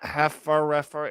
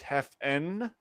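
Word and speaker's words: Haffenreffer: It's not Hefferreffer, it's Heffenreffer. Show Hold me.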